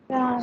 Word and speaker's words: Reims: Then further, this is a city name actually in France, and you do pronounce the S also. Try. Reims. Yes, that's right. I think you might be